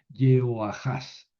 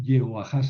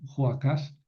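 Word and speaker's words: Joacaz: Yoajas. Eh, yeoajas, así se escribe en en hebreo. Sí, se puede leer Joacas porque no hay gran cosa de confusión, pero esa es la manera como se escribe en hebreo.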